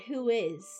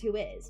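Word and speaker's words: WHOIS: I think that's why I think it is pronounced who is because that's kind of the Yes.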